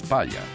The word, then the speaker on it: Palha: Pala se pronuncia en portugués palla, que traducido al castellano significa paja.